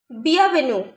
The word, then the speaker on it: bienvenue: Bienvenue. Bienvenue. Here E find after the letter U. So we are pronouncing only the letter U. We are not pronouncing the letter E.